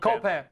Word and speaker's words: Copan: I've always heard cop Copan you know C okay very good like Peter Pan anyway uh there's some